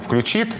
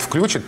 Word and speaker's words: включит: поменялось а вот есть хороший пример ударения включит образцовой нормы включит и вариант включит прежде запрещался в 2012 году вышел большая фактически слова русского языка который это ударение разрешил но тоже пока в разговорной речи кто это решает